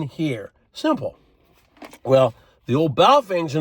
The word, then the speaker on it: Baofeng: They're called BAOFENG, and everybody pronounces them different. Some say boofing, some say baofeng. I say baofeng.